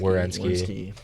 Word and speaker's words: Werenski: Werenski.